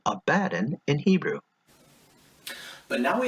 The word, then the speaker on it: Abaddon: In Hebrew, there is a way to make this D sound appear on both sides of the syllable, Abaddon, with that hard D sound.